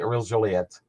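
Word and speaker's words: Aurèle Joliat: You get Howie Moran's Hop Day, Hooley Smith, King Clancy, Ariel Joliet.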